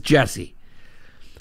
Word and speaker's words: Jussie: will appeal it juicy it's so hard not to call him juicy because it's spelt juicy but he pronounces jesse uh jessie smolin will